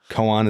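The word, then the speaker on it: koan: a minute so it's really soothing a Zen Coan Coan is that how you pronounce it technically yeah gramar Nazi again Kan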